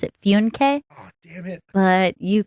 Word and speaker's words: Funke: I pronounce it Funke.